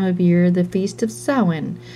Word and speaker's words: Samhain: year the feast of soin smiling she said the strange word so it seemed to rhyme with plowing well it's true that